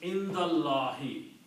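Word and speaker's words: عند الله: to a kasra, and you don't pronounce this alif, so the word becomes Indallahi.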